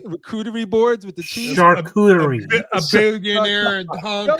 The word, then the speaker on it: charcuterie: charcuterie. Charcuterie. That's how it's pronounced.